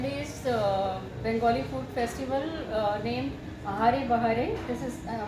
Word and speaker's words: Ahare Bahare: is a 10 days Bengali food festival named Ahare Bahare. This is how you pronounce this.